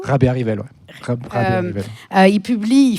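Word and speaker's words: Rabearivelo: raisons mais donc alors je vais mal le prononcer Rabé Rivello. Rabé Rivelo.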